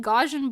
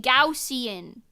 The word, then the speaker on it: Gaussian: a while and you're telling me I've been pronouncing gaj and blur wrong that's what I'm saying look we got another one that's what I'm saying have you also been saying gajan blur cuz it's actually pronounced gausian gausian blur apparently go I thought it was